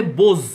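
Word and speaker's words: beaux: বো, বো মানে ফুলবাবু, বো থেকে হয়ে যাবে বোজ, BEAU, এক্স একটা এক্স জুড়ে যাবে, উচ্চারণ হবে বোজ।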